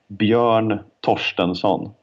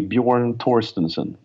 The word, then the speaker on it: Bjorn Torstensson: Yeah, my name, if I were to say it in Swedish, would be Bjorn Torstensson. Okay. Although the Englified version, I guess, would be Bjorn Torstensson.